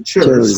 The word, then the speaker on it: chairs: Entonces, el plural de este chair se pronuncia chairs, con una Z, un sonido de Z.